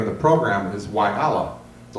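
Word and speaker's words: يلا: of the program is Y Allah, the letter Y and then Allah. And I looked it up. It's pronounced technically, according to Wikipedia, Yalla, meaning let's go.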